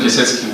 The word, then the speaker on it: Piasecki: My name is Piasecki, which no one will remember. It rhymes with jet ski.